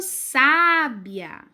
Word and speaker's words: sábia: fala com mais força se eu quiser dizer que uma menina é muito sábia eu digo ela é muito sábia eu tô no sei o saco com bastante força né se eu quero